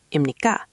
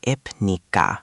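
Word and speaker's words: 입니까: Second, imnikka is pronounced close to imnikka. Again, smooth and quick. That helps. I was saying ipnikka very slowly.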